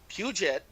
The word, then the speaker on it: Puget: Puget. Okay, I am terrible at pronunciations.